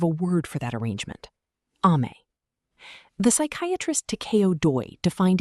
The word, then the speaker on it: Amae: The first word is Amae, pronounced A-ma-e, and it's the foundation of everything else.